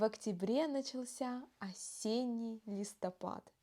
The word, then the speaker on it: листопад: следующее словосочетание осенний листопад будьте внимательны в слове листопад последнюю букву Д мы произносим как Т это называется оглу ние согласной на конце слова осенний листопад не листопад